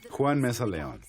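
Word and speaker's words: Juan Meza-León: panties on, ladies, the soothing dulcet tones of Juan Lihan Mesa. Did I say it right? Nope, you got to No, switch. you did not. No. All right, you say it. Juan Mesa Leon.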